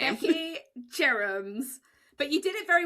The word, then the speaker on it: Jerams: Let's pronounce your name correctly. Maybe you should say it first, your last name. I'm Becky Jerams.